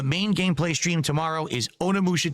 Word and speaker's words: Onimusha: You It's guys Onimusha. engaging and massively supporting my Yeah, it's like sim extra syllables gameplay to it.